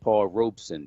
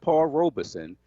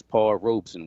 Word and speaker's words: Paul Robeson: the great paul robeson you notice i said paul robeson two syllables not paul robeson three syllables the correct pronunciation is paul robeson why am i talking